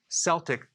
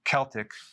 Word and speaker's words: Celtic: So I do not recommend consuming sea salt unless it's Celtic sea salt, or it could be pronounced Celtic.